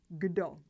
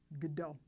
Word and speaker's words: kdo: Again, we pronounce a hard g sound instead of the k.